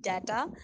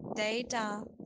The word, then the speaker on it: data: This is not data. The right way to say is data, data, data.